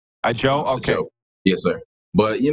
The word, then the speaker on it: Ajou: want to correct you my name is a Joe it's pronounced a Joe a Joe okaye yes sir but